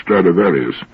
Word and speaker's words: Stradivarius: he's ever heard of stradivarius which is the latin pronunciation of the name throughout history they've been